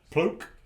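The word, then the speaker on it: Pluq: How would you pronounce P-L-U-Q? Pluk. Pluk.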